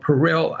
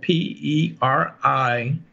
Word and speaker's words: Perillyl: Lavender, there is inside lavender a chemotherapy agent called Perillyl alcohol. That's spelled P-E-R-I-L-L-Y-L alcohol.